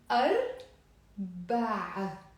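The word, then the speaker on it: أربع: ain, and it becomes arba'. So there's a. It's not a, it's a. Arba'. So let's repeat the difference. Arb, a, or arba'.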